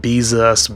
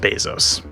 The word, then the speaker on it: Bezos: have so many people struggling to say his name you know bezos beezus bezas it's just bezos third the screams there